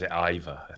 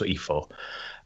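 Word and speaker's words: Eivor: have this character as iva i think that's pronounced e4 and she looks fantastic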